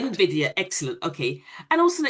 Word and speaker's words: NVIDIA: You have to pronounce it. NVIDIA, that's correct. NVIDIA, excellent, okay.